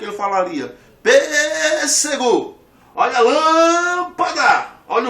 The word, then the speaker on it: lâmpada: A palavra lâmpada, separa a palavra lâmpada. Essa palavra aqui ela é proparoxítona. Por quê? Porque a sílaba forte é aqui. Lâmpada.